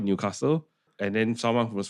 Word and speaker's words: Newcastle: So the locals, the jais will call it Newcastle and then someone who was from out of town will call it Newcastle.